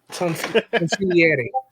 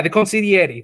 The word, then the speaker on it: consigliere: Consigliere. Blah, blah, blah. I'm Italian. I should know how to say this. God damn it. Consigliere. Yeah, the consigliere. There we go.